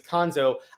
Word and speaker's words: Konzo: Well, and particularly when, I said Kwanzaa at first because I thought that was how his name was actually pronounced. But you're right. Once it became clear that the name is Konzo, I got it mixed